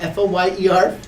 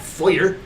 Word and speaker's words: foyer: pronounced. Yeah, F-O-Y-E-R, not foyer, like you need a lawyer.